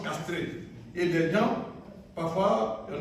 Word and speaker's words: chastré: Parce qu'on écrit chastré et puis on prononce castré.